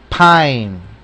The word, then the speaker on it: pine: Se pronuncia ahí, pine, pino. ¿Por qué? Porque está entre una consonante que es la N y la E es muda.